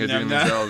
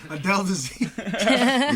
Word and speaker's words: Idina Menzel: I didn't ask him about mispronouncing Idina Menzel's name. Yeah, I didn't ask him about that. Dazeem. Yeah. Adele Dazeem.